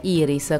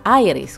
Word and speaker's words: Iris: vero tormentone il titolo e iris con la pronuncia italiana aires con quella inglese anglo americane in genere e a cantarlo erano